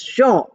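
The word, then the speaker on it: Jean: j e a n j e a n pronounced as Sha and here we have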